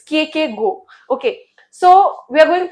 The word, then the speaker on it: Kierkegaard: So the major figures that we are going to ask is, so okay, so most of the people read his name wrong. It's not Kierkegaard, it's Kierkegaard. It's Kierkegaard.